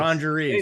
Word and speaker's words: Orangerie: Yeah, or orangerie. So it's Orangerie, sorry. basically the word orange and then add RIE. Yeah. But the Okay. French pronunciation is orangerie.